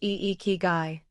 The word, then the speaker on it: ikigai: Ikigai, pronounced iikigai.